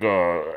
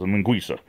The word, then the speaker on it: linguiça: And this linguiça, it's spelled like Linguica, like linguica, but the C is silent. Not silent, it's a soft C, it's a linguiça.